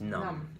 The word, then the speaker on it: numb: num talking about emotions just be sure not to use the pier be sound at the end just drop the be just numb and um sounds numb